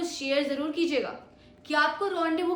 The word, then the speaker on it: rendezvous: क्या आपको रॉन्डेवू की स्पेलिंग पता है?